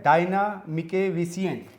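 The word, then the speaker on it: Diana Mickevičienė: और हमारे साथ हैं लिथुआनिया की राजदूत, और आपके नाम का मैं सही उच्चारण करूं तो वो होता है डायना मिकेविसियन। बिल्कुल सही प्रोनाउंस किया मैंने? हाँ ठीक है, सब ठीक है, बिल्कुल ठीक जी।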